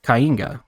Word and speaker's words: Kainga: I'm here with Breezy, who is the sole developer of Kainga, right? That's how you pronounce it?